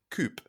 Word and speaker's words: coup: American practice called Counting Coupe it's spelled Coupe c u p like C but that's a French term so I'm pretty sure that that's not applicable yet I'm going to keep saying coup if it's wrong sorry